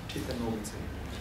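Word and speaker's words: Triten Norbutse: Ça s'écrit comment? T-R-I-T-E-N. Norbutse, N-O-R-B-U. T-S-E, Chitanobutse, qui vient de célébrer son 25e anniversaire.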